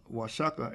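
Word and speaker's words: Oaxaca: cadis is pronounced why the X in the Spanish cadis is pronounced sha the correct pronunciation of wasaka isaka denoting wages or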